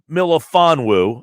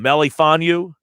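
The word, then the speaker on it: Melifonwu: the kid from syracuse is if fedoru milofanwoo i believe is how you say his name was i right or am i off right there what did i mess up on melifonu little off on that one ucla one's a corner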